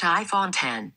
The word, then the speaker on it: iPhone X: iphone 10 i prefer iphone x instead well apple says it's pronounced iphone 10.